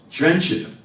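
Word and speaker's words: Trenčín: Am I going to say it right? Trenchin? Trenchin.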